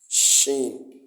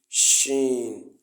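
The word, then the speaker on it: شين: it's from the it's it's actually pronounced from the middle of the tongue Shen sh sh the the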